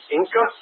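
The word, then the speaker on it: Enka: Wi-Fi is available at the Inca, E-N-K-A, Inca, I guess it's pronounced, Inca Candler Public Library.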